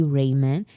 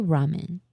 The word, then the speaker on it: ramen: Did you say Raymon? Is it not pronounced ramen? I say ramen. I say ramen.